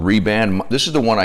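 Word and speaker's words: Rehband: So one of the wraps I get are called Reband. This is the one I use. It's worn out, but this is how it's spelled. It's called Ray, R-E-H, and then Band.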